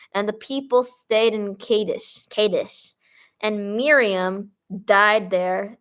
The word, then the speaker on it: Kadesh: Kad kades kades K Kadesh Kadesh whatever Kadesh Kadesh capish capish that's what it rhymes with well it kind of Rhymes then the children of